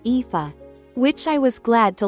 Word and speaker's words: Aoife: Her name turned out to be Aoife, pronounced Aoife, which I was glad to learn before attempting it.